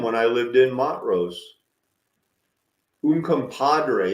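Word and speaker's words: Uncompahgre: I lived in Montrose un Compadre isn't that a funny way to pronounce that that GH is always funny un Compadre this is where you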